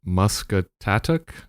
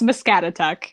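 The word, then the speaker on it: Muscatatuck: artist residency at and I'm probably going to pronounce this wrong musat tat National Wildlife Refuge is that even close oh say it is close it's mscat okay yeah I totally put the emphasis in the wrong place um and from what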